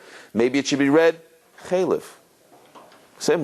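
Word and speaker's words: חלב: has to be written and has to be pronounced chalev, right? Chalev and not chalev.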